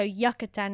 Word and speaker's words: Yucatán: Like, so Yucatán is obviously spelt with a Y, but the way they say Yucatán, like, I just love their accent over there, like that particular area.